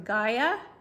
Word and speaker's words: Gaia: All right, the next one is from Gaia, and that Gaia is the brand, and it's spelled G-A-I-A, and it's called Microbe Cleanse Liquid Phytocaps.